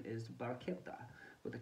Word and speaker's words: barchetta: without any kind of roof the proper Italian pronunciation is Baretta with a K rather than the whatever that